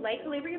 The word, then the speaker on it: Le' Calibria: Boulevard and Bartlet Tennessee again it's l calibria it's spelled l e c a l i v r i a lay calibria Boutique located at 2770 Bartlett Boulevard and check